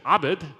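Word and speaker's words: عبد: for slave is OED Obed Abed is how you say it in Arabic and so my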